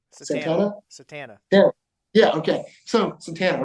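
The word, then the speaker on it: Satanta: Went to a small town, Santana. How do you say it? Satana.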